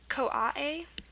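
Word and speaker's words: koae: this is pronounced uh COA a it has the a it's not it doesn't use the I sound just I'm just mentioning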